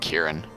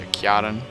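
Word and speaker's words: Ciaran: I know in the first lore video I called her Kiaran, but I think it's actually called Kieran. I don't know, because it's spelled C-I-A-R-A-N, so Kiaran. I don't know.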